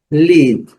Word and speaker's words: lead: Lead, liderar, conduzir. Aqui está aqui a, a, a, o significado. Então, lead, letra A não é pronunciada, e a letra I com som.